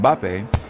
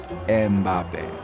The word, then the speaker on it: Mbappé: ...about the French footballer Kylian Mbappé... ...they often find themselves... ...inserting a third syllable to make it more pronounceable “Embappé” It's because in English starting a word...